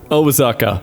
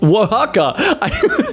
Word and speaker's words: Oaxaca: Osaka, for anyone who actually wants to know how to pronounce these things. No, wait, scratch that. It's Oaxaca.